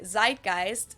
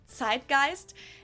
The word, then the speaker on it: Zeitgeist: some other languages too Americans usually say Zeitgeist in German we pronounce it Zeitgeist and this consists of